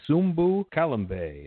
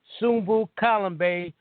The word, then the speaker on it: Sumbu Kalambay: we are talking about the greatest performances of Zumba Callum Bay and I'm joined once again by one Silva how you doing man hey good afternoon Logan and yes you did say his name correctly subbu Colin Bey born in the Belgian Congo but moved his